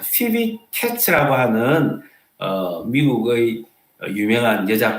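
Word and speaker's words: Phoebe: 여러분, 베베를 영어 발음으로 피비라고 합니다. 피비.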